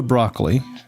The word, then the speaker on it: Broccoli: Barbara Broccoli or broccoli, I think is how she prefers it pronounced, but it's spelled the same way as broccoli.